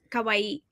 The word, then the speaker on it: kawaii: Kawawaii. So, the accent goes on the last syllable.